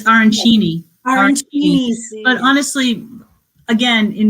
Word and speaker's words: arancini: So tell me, how do you really pronounce what the rice balls are? It's arancini? It's arancini.